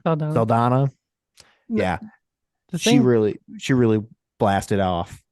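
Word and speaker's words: Saldaña: Saldana. Saldana.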